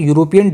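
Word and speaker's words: European: तो यहाँ पे यूरोपियन की जो साउंड है, जो प्रोनाउंसिएशन है, ये जो है कॉन्सोनेंट की है, तो इस वजह से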